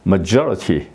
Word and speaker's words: majority: 된다 이런 말씀이죠 그다음에 majority 여기 it 있으니까 그 앞에 여기 엑센트가 이제 있는 거죠 majority majority 예 이렇게 여기도